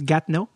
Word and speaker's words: Gatineau: Je veux pas parler trop fort parce que j'enregistre présentement tout ça d'une chambre d'hôtel de Gatineau, ou comme ça se prononce, Gatineau.